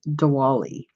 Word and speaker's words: Diwali: and it is a Hindu festival and it's Diwali de walle do notice that the eyes are pronounced as knees much like my name so